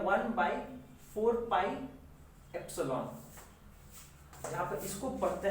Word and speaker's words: epsilon: Medium k का value होता है 1/4 पाई एप्सिलॉन। इसको पढ़ते हैं एप्सिलॉन, एप्सिलॉन, स्पेलिंग मिस्टेक हो सकता है पर एप्सिलॉन पढ़ते हैं।